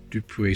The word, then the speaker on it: Dupuis: on that side and you know Dupree silent s because it's French I can read that or not there we go there we go first French one another Victoria and 1898.